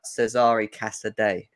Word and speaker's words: Cesare Casadei: You brought out a tweet earlier on today about Cesare Casadei. is how you pronounce it, even though my Italian's awful.